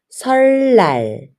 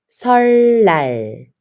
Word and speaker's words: 설날: But you should pronounce 설날. 설날.